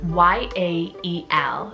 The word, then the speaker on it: Yael: that is the name Yael, so spelled Y-A-E-L. So it is 2 syllables, Ya, Y-A-H, and then E-H-L, Yael.